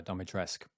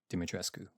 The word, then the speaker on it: Dimitrescu: game the game pronoun the game pronounces it uh domitress but i believe it's actually supposed to be dimitrescu but the game pronounces